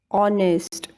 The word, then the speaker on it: honest: But do you hear the sound H anywhere? No, I said honorable, hour, honest, honor. That means letter H is silent here.